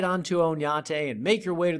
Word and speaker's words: Oñate: and I'm guessing that's missing a squiggly above the N and should actually be pronounced Oñate.